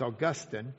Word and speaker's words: Augustine: If you really want to know how to say his name and not sound like you're from Lach, uh it's Augustine.